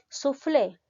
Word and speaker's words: soufflé: está terminando en vocal soufflé que referido a un alimento la mayor fuerza de voz recae en la sílaba flay por lo tanto es una palabra aguda las agudas llevan tilde cuando terminan en vocal la tentación optativa u